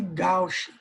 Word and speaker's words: gauche: Mais precisamente a gente chama de gauche, certo? Se pronuncia gauche, mas se escreve gauche, tá?